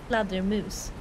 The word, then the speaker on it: fladdermus: But it's pronounced fladdermus. So it's not pronounced flutter, but yeah, it's pronounced.